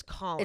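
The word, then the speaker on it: Khalen: were saying calling him I thought it was kin because it's k h a l e n but it's Colin pronounced he I wonder cam was there cam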